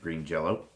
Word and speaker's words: Green Jelly: Um Maynard the vocalist was also for a short time in the band Green Jello who changed their name to Green Jelly but still were pronouncing it Green Jello.